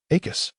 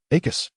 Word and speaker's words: Acus: Acus. Note 1. Acus. Ensure that the final syllable is pronounced clearly and with a sharp emphasis.